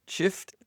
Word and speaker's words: Schiff: Is it Adam Schiff? Shift. Shifty? I'm sure that's how Trump pronounces it too.